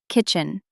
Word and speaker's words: kitchen: Kitchen. Kitchen. Be careful with the pronunciation, listeners. It is kitchen, not chicken. A chicken is a bird you eat, but a kitchen is the room where you cook.